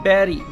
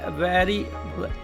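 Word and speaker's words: very: जैसे हमको बोलना है वेरी और कई बार बहुत सारे लोग उसको बोलते हैं बेरी।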